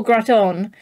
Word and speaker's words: gratin: Okay, yeah, I think it's a gratin that I've had. Yeah, because we call it gratin in the UK, which I'm pretty sure is not how it's supposed to be pronounced.